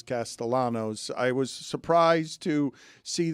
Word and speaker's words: Castellanos: Uh, I was surprised to see Nick Castayanos, although he pronounces as Castellanos.